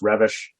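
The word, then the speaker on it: Reves: emery well it's pronounced looks like reeves but it's pronounced revish anyway that book really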